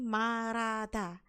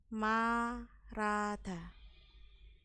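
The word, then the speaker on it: 말하다: intinya ngomong itu marada ini bacanya bukan malh yaun tapi marada Bacanya adalah marata ini adalah yang benar ya marata kenapa begitu karena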